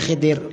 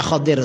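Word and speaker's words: Khidr: Kita menyebutnya Nabi Khidir, kalau bacanya Khidir sebenarnya.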